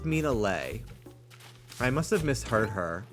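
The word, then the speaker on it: Minale: yeah for some reason I heard her say mean a lie in a in a video so I thought that's how she pronounced it but no she said her name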